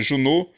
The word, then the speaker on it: Junot: o exército do general júnor se escreve junot sempre pronuncia júnor chegou a lisboa eles